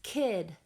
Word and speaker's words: kid: Our next word is kid. K-I-D. Kid. There is no silent E on the end, so we know this is a closed syllable type, and the vowel sound is short.